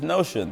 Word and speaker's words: Notion: Number 4, which rhymes with Motion, is Notion.